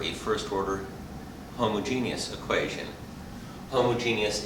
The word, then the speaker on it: homogeneous: I'm Dr and this is differential equations in particular A first order homogeneous equation homogeneous is five syllables homo G us for homogeneous but five syllables homogeneous and homogeneous equations are